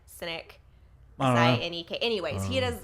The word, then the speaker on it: Sinek: is it simon Sinek how do you say his last name cynic cynic any Kay anyways he